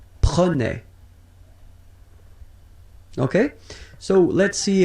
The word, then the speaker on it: prenais: So same thing here, final S not pronounced. Je prenais, tu prenais, il prenait, final T not pronounced, so the same form, okay?